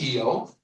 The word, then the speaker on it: Io: Here's uh the moon EO. It's spelled Io, but it's pronounced Eio.